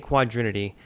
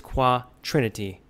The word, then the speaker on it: quatrinity: So one of the things I screwed up was how I was saying quadrinity, but I think it's quatrinity is how you pronounce it.